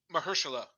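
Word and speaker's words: Mahershala: Mhersela.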